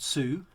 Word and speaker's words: Tsu: So there's an alliance lady called Sue, spelled with a T, TSU.